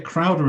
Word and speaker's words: Crowder: I should say Crowder is spelled Crowder. A lot of people think there's a TH in the middle. A lot of people think it's Leslie Crowther, I suppose, Exactly. as opposed to Crowder.